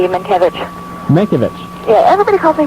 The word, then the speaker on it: Mankiewicz: The Russian pronunciation of it is Mankiewicz. Mankiewicz. The Americanized pronunciation of it would be Mankiewicz.